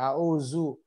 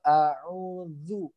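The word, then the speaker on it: أعوذ: Tapi ini adalah huruf dzal. Huruf dzal itu adalah ujung lidah ketemu ujung gigi seri atas. Ujung lidah bertemu ujung gigi seri atas. Jadi bacanya kul a'udzu. Zu ya, zu seperti itu ya.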